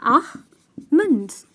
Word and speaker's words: almond: is “almond” that right the pronunciation is “a-mand” because the "L" here is silent I am sure it’s